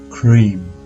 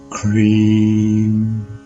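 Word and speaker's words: क्रीं: as a short vow the Mantra is pronounced as the English word cream so her beer Mantra is cream next we have Lakshmi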